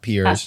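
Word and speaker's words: Pears: RS like the fruit but it's pronounced peers right but go to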